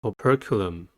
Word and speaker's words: operculum: the last word is operculum curriculum has four syllables and the stress is at the second one the first syllable is